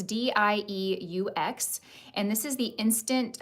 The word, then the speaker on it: Dieux: So this is the brand, I think you pronounce this Dieux. It's Dieux, and this is the Instant Angel Lipid Repair facial moisturizer.